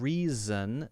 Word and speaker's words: reason: a Jess sound and reason is a Z sound so just be careful